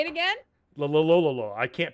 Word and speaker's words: Loyola: Loyola. I can't pronounce it right now.